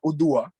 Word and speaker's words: Odua: C'est vrai qu'on m'a posé plusieurs fois cette question, que signifie le nom Odua, Odua, Donc, ça veut bien prononcer, c'est bien Odoa.